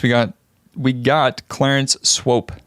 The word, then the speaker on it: Swope: And in 1st place, we got we got Clarence Swope, spelled like the Pope, but with SW instead of the P.